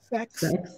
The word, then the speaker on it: CEX: Why would the next CEX, pronounced sex, fail?